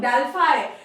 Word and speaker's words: Delphi: तो यहाँ पे क्या है, द नेम डेल्फाई, ये इसको डेल्फी भी कहते हैं भाई। देखिए डेल्फाई कहिए डेल्फी कहिए, दोनों ही मेथड्स सेम है। इसका प्रोनाउंसिएशन दो तरीके से होता है।